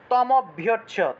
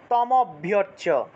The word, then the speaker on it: তম অভ্যর্চ্য: এটাকে তম অভ্যর্চ্য, তম অ, এই যে তম এবং অ এই দুইটা শব্দকে একসাথে উচ্চারণ করতে হবে। তম অভ্যর্চ্য, তম অভ্যর্চ্য, এজন্য এই